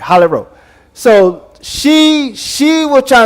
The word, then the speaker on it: Rowe: Yeah, I yeah, I'm saying it right. Rowe.